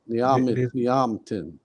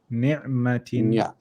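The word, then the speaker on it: نِعْمَةٍ: Then you're saying ya. Where's the ya? There's no. Niyamtin. There's no ya. You just join to the ain. Ni'matin.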